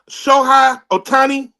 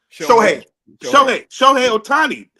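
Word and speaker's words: Shohei Ohtani: Is it Is it Shai Otani? Show Otani. He's dope.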